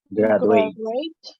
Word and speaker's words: graduate: Graduate. Quiero pedirles que en esta palabra específicamente exageren un poquito el sonido de la D. Ese sonido de la D es muy parecido al sonido de cuando decimos la palabra educación.